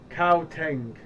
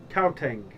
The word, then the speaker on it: Gauteng: Gauteng. Gauteng.